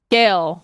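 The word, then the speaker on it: Sgaeyl: time One More Time s s g a e y l scale scale scale yes yes scale so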